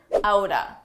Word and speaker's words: out of: Let's talk about a common reduction, outa. Out of, side by side, you can pronounce as outa, outa.